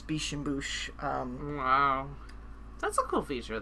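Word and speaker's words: Biches et Bûches: Biche and Bouche. There you go. At least that's how Google says that you should pronounce it, Biche and Bouche.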